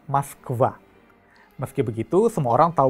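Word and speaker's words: Москва: memiliki aturan ejaannya masing-masing sementara di Rusia orang-orang menggunakan maskva meski begitu semua orang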